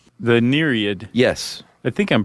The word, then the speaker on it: Nereid: The Nereid. Yes. I think I'm pronouncing that correctly. Yeah, Nereid. That EI is a tough transition. It is. Because you want to say, like, Nereid. Yeah. Or Nereid.